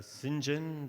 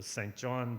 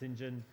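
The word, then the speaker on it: St John: uh Professor just uh Sinjin that's pronounced or Saint John but it's pronounce engine and me in Adelaide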